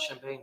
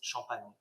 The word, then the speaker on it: Champagne: And I know, obviously, Champagne is synonymous to the region, and that's for good reason, I suppose, in that it's mandated by law. It's not Champagne, it's Champagne. Champagne.